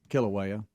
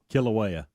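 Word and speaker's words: Kīlauea: okay um now how you say it again Kilauea Kilauea killing me how um I wish y'all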